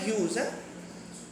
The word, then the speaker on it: Hughes: দেখ হক রুস্টিং বাই টেড হিউজ এটা উচ্চারণটা হয় হিউজ আচ্ছা আমাকে বল হক মানে কিচয় বাজ পাখি